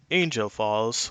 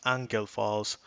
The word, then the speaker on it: Angel Falls: we're looking at is Angel Falls or it probably is pronounced angle Falls in Venezuela at 979